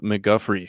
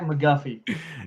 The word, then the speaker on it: McGuffey: Like, how do you say your name? It's McGuffey.